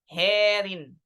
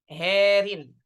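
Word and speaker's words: هارٍ: Dan alif kemudian di ra-nya apa namanya? Dibaca tarqiq. Ya. Herin. Ya, herin. Baik.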